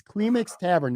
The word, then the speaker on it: Klimix Tavern: so good beltline brewery klimix tavern i always pronounce it wrong it's kleemix tavern that's in north town